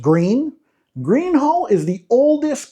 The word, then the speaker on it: Gruene: If you move to New Braunfels, one name you're going to hear constantly is Gruene Historic District pronounced 'Green.'